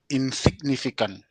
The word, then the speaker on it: insignificant: And insignificant. Okay, where is your stress? Significant. Where is your Second stress? from the last. Fee. Insignificant. Insignificant. Okay, that's the penultimate.